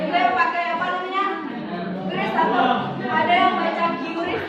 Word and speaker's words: QRIS: QRIS atau ada yang baca QRIS nggak?